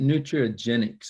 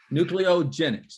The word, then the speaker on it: NücleoGenex: how did you get nutrigenics I mean in today's world you're trying to come up with something did I say it wrong nucleo for nucleotides so nucleotide nucleogenics is that right yeah well I go through